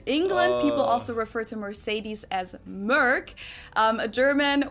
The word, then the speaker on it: Mercedes: in Germany um so most Americans call this Mercedes in German we pronounce it Mercedes so Mercedes versus Mees Mees no no no